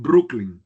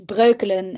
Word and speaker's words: Breukelen: So yeah, so there's a company that right now is not doing very well that is in Brooklyn. Have I said it well? Near Amsterdam. Yeah, it's Breukelen actually, Ah, but yeah, it's I hard.